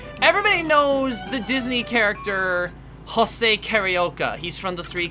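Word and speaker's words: José: looked up hose and what it would be pronounced as in Portuguese and it's pronounced Jose and him and the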